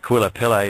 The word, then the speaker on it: Kauilapele: And that first word is spelled K-A-U-I-L-A-P-E-L-E, Kauilapele.